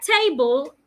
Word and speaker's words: table: So, in the word table, a rule says that when you have a word that has two syllables and the word is a noun, if you want to pronounce such words, you're expected to stress the first part of such words. Table. So it means that the first part, te, you say louder, longer, and clearer.